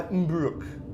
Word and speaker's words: Mbruc: I've got a forum post by Mbruck. I guess that's how you say it, M-B-R-U-C.